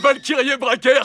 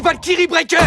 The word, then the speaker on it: Valkyrie Breaker: Ouais, Valkyri Bracker, c'est ça ? Avruti, on dit Valkyrie Breaker.